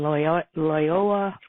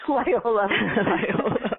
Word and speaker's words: Loyola: served on the faculties of Georgetown University and Loyola, can't say it right, Loyola, you say it, Carol. Loyola.